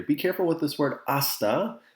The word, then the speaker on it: hasta: careful with this word asta the h in spanish is silent that's why we don't